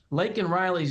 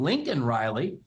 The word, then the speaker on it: Laken Riley: When he was pressed by someone in the crowd to say Laken Riley's name, not only did he get the name wrong in saying Lincoln Riley, but he didn't say